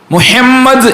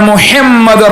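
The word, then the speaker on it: محمد: തമ്മിൽ മാറിപ്പോയാൽ അർത്ഥം മാറിപ്പോകും മുഹമ്മദ് എന്ന് പറയുമ്പോൾ അശ്ഹദു അന്ന മുഹമ്മദ് റസൂലുള്ള അവിടെ മുഹമ്മദ് റസൂലുള്ള എന്ന് പറഞ്ഞാൽ നമ്മുടെ അത്തഹിയ്യാത്തും നമ്മുടെ ശഹാദത്ത് കലിമയും ഒക്കെ തെറ്റാണ് ഹാ തന്നെ പറയണം ഹാ ആയി പോകരുത് എന്റെ ഉമ്മമാരെ നമ്മൾ നല്ലോണം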